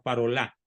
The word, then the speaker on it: Parolin: recuerdo es el cardenal parolin que des parola es de origen francés se pronuncia parola se escribe parolin el cardenal parolin ya